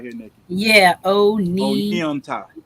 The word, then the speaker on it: Oneonta: Oh, so she got it broke down how to pronounce it right here, Nikki. Yeah. Oneonta. Onianta.